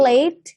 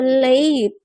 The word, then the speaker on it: late: Oke ya, jadi kalau late itu bacanya adalah A. Contoh kalau Anda mengucapkan kata name, itu kan ada AE ya, ada huruf vokal AE. Bacanya adalah name, atau date, atau late. Gitu ya, bacanya A. Jadi bukan late. Late. Nanti keliru sama LET. Ya, gitu.